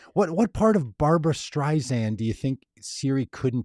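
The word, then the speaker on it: Streisand: would they say Barbara strian I I hadn't been pronouncing the D I think in my mind I was spelling strian with no D yeah I it's interesting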